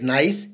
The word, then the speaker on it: gneiss: Next is metamorphic rock, that is known as gneiss, pronounced as gneiss, is globally common type of metamorphic rock that can easily identified by its alternating layer.